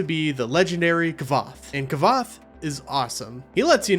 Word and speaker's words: Kvothe: And look, I know it's pronounced like Quoth, as he says in the book, but it's easier for me to say Kvothe than it is to say Kvothe, alright?